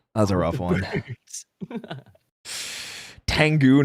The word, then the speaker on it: Tengu: Tengu, not Tenga. Yeah, but they say Tenga. Tango Warriors. It is. They pronounce it Tenga. They do. That's why I said Tenga, because that's what they say. It is Tengu, but they pronounce it wrong in the show all the time.